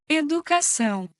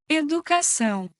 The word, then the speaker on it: Educação: The first conversion we have to learn is that TION words in English change to São. in Portuguese. For example, education becomes Educação. Educação.